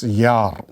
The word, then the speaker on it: Jahr: Pronunciation is Jahr. H is not pronounced because it comes in the middle.